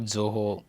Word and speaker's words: Zoho: When we came into, though it is pronounced as Zoho, that we were being introduced as small office and home office.